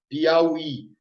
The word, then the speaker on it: Piauí: é a última sílaba Olha só o exemplo aqui ó Piauí olha aqui ó aqui você tem um ditongo e a palavra ela é oxítona porque a sílaba tônica é a última e ao i você fala Piauí Então é uma oxítona vai receber o acento desde que né tem